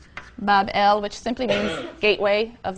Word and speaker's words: Babylon: So the grateful gods now recognize the sovereignty of Marduk, and they build him a magnificent shrine or temple in Babylon, pronounced Bab-El, which simply means gateway of the god, the gate of the god.